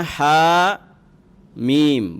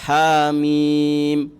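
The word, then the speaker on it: حم: Misalnya huruf muqatta'ah ha dan mim ya, maka dibacanya ha mim. Berapa harokat tuh? Dua-duanya 2 harokat. Haknya 2 harokat, mimnya 2 harokat. Ha mim. Mimnya ditahan tidak? Ha mim. Enggak. Dia sukun. Namanya sukun berarti mati.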